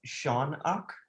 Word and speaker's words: Shoanak: name is like shonak is it sure it's sean ock that's how it's pronounced okay let me give you some advice